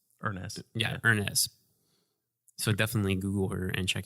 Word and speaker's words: Urness: Z or Z OE and then Ernest is you are an ESS so not exactly how would phonetically sound but that's earnest yeah earnest so definitely